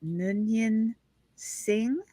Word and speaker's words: Noonien Singh: So the idea is that Khan, and I never can say his name right, Noonien Singh, is that correct?